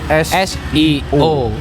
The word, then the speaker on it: SEO: Seo Seo artinya I kalau orang-orang bilang Sio ya tapi sebenarnya bacanya pakai bahasa Inggris CSO search engine optimization sama